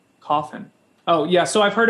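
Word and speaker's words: Cawthon: you spell that uh it's scott and then c-a-w-t-h-o-n coffin oh yeah so i've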